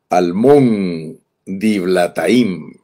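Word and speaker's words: Almón-diblataim: de hoy se llama almón dilataim así leído en español almón dilataim Esa es la manera que se pronuncia en español almón dila bueno quizá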